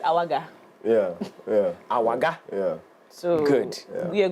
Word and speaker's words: Awagah: Yeah, and we've got Martin Kwame Awagah.